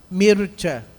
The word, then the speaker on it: Mircea: E aí eu me recordo, eu até comentava agora há pouco com o irmão Ricardo, o conceito do Mircea Eliade, pronunciei correto? Mircea.